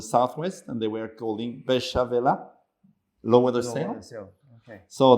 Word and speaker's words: Beychevelle: to start with special Bishopville means Besh is lower they say the word French word is busy lower and Val is the sale in Spanish it's speller so that's coming from old